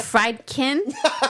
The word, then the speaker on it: Friedkin: I think it is Fred survey says oh Al can't pronounce these things. It's Friedkin.